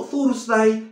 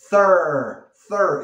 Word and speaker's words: Thursday: No Thursday, ni Thursday, ni nada de eso. Es tha, tha, tha. Como Zaragoza. Thur, thur. Y la R americana. Rrr.